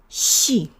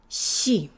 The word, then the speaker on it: щи: So go ahead and pronounce it. Щи. Щи.